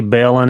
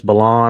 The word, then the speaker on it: Bellon: talk about um Bart I say Bellon it's Balon I don't care how you pronounce it Bart Bellon um y'all